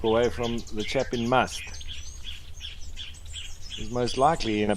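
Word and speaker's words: musth: Looks like they're all trying to keep away from the chap in must.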